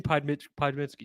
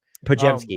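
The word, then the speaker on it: Podziemski: Right, but like what a name I did have on that board was Brandon Podmitsky. Excuse me. I always get his name wrong. Pajemski, yeah. Pajemski, Brandon Pajemski.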